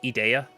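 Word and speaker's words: Edea: her name right there, and it's pronounced Idea.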